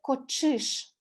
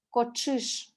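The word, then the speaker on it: кочыш: Ч с 2 точками звучит как «ч», сочетание звуков ТШ. Как в слове «кочиш», «кошка», «кочиш».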